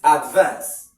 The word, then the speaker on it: advance: So you stress the second syllable if it is a verb. Stress the first syllable if it is a noun.